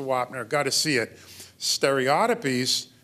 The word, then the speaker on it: stereotypies: Stereotypies, and that's the British pronunciation. I used to think that was an affectation, but everybody on both sides of the Atlantic pronounce it that way.